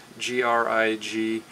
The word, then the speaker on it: Grignard: a french name grignard g-r-i-g-n-a-r-d uh and you the middle g is silent so it's grignard g-r-i-g-n-a-r-d and it's